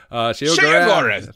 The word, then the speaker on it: Sheogorath: Sheogorath. Thank you, Sheogorath. Daedric, Prince of Madness. Don't mispronounce my name.